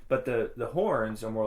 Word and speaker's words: Huorn: But the horns are more like how trees. Do you say it? Horns. Horns. That's how I say it. Yeah. Horns. I think that's the right way of pronouncing it.